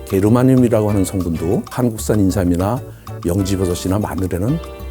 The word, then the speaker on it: 게르마늄: 우리 식약에서는 인정을 안 하고 있지만 저메늄 독일식 발음을 하면 게르마늄이라고 하는 성분도 한국산 인삼이나 영지버섯이나 마늘에는 아주 최고로 많은 것으로 알려져 있습니다.